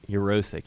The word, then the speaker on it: Urosek: You got my name right. Urosek. You pronounced it right.